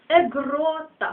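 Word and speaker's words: aegrota: Аква вода далі егрота егрота хвора наголос падає на о г г егрота далі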